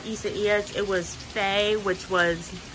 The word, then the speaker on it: Isaias: That's how you pronounce it. It's not Isaias. It's Isaias.